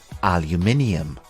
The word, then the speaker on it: aluminium: have two different pronunciations the American English pronunciation is aluminum aluminum and in British English it is called aluminium repeat after me aluminium it is interesting to